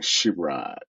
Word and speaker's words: Sherrod: There's a senator named Sherrod Brown, but he pronounces his name Sherrod, I think, too. So I generally pronounce mine Sherrod, but a lot of people, make that assumption and that based on how it's spelled.